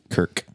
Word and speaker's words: Kirk: Sorry, I think I said Kirk, not Kurt. Kirk. A, his stepfather stomping Kirk's pet turtle to death.